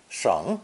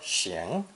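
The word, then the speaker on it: 省: Both are third tone, pronounced either sheng, sheng, or xing, xing, depending on the meaning.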